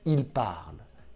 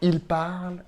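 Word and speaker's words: parlent: C'est fou, je sais, c'est complètement fou, mais ENT ne se prononce pas si c'est la conjugaison d'un verbe.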